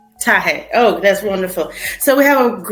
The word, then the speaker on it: Taher: Now I want to make sure I pronounced your last name correctly. Please tell me. Taher. Taher.